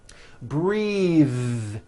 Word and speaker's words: breathe: Breath is a noun. Take a breath, unvoiced. But when you change it into a verb, the vowel changes and it becomes breathe. I am breathing with a voiced TH.